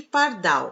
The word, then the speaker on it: pardal: as outras são átonas e na palavra pardal a última sílaba é a sílaba tônica ea par é sílaba